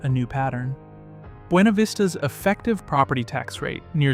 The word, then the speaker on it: Buena Vista: Fifth is Buena Vista, and the pronunciation here surprises almost everyone who's never lived in Virginia. Locals pronounce Buena Vista with a flattened English sound, not the Spanish-style pronunciation.